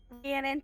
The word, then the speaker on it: Rhiannon: And that will bring us to, correct me if I mispronounced this, but Rhiannon? Rhiannon, but you can just call Rhiannon.